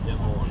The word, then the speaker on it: Des Moines: But you never pronounce the S's. There's an S in the first part and the S in the second. Don't pronounce either one. It's Des Moines.